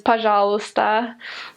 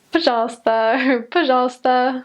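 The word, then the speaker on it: пожалуйста: letters in it or the word for please is pajala but we a lot of missionaries sort of butcher that at the beginning just paja paja I don't know it's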